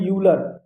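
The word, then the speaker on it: Euler: ई आर, ये है, इसे पढ़ते हैं यूलर।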